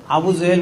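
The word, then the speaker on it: আবু জাহল: কখনো মিথ্যা বলে না আবু জেহেল মনে করেছে আবু জেহেল আপনারা বলেন এইজন্য আমিও বলছি আসলে নাম হলো হল আবু জাহাল।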